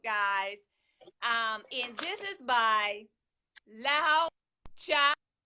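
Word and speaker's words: Laozi: And this is by Lao Cha. I pronounce it. It's actually spelled LaoTzu. Lao Cha. It's Chinese. That is his name.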